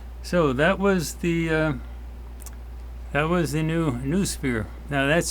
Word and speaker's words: NuuSphere: So that was the new Noosphere. Now that's spelled N-U-U, then S-P-H-E-R-E, because it's sphere in